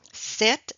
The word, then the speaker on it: sept: Donc, remember when we do have set, which means number 7 in English, set, normally we don't pronounce the P.